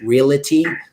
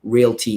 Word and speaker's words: Realty: come into this business there's a perception that the word is reality that is not a correct pronunciation of the word Realty is it's just two beats re al T why there's no real it t happens all the